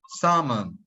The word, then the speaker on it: salmon: as salmon salmon so do not pronounce the L the L is completely completely deleted so salmon salmon the